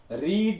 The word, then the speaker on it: read: अब पढ़ता था, रीड रेड रीड, तो रेड ये है। रीड READ, तीनों फॉर्म तीनों स्पेलिंग एक ही होते हैं, लेकिन प्रेजेंट में इसको रीड पढ़ते हैं लेकिन पास्ट इंडिफिनिट इसको रेड पढ़ते हैं।